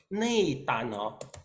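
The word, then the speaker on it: 內丹: In Chinese, we pronounce as nei dan.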